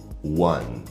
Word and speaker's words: one: Começando com one. Esse é um daqueles exemplos de palavras em que termina com uma vogal, mas essa vogal não é pronunciada.